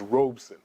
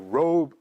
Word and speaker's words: Robeson: times the actual pronunciation of his name is Robeson Robeson like robon but when it comes out sometimes it comes out as robon but it's Robeson Robeson uh we're g to